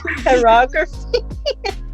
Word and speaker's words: pyrography: Pyrography? Pyrography?